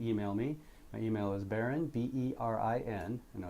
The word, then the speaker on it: Berin: My email is Berin, B-E-R-I-N. I know it's spelled a little bit different.